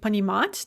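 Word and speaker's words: понимать: stem it never moves an example would be panimat to understand and we say that the stress stays fixed on that ah throughout we can also have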